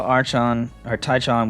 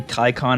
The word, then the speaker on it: Tychon: Especially since I think they both should be a hard C sound. They're both Greek. I think it should be Tychon and Archon, which makes them sound like twins, which they're not.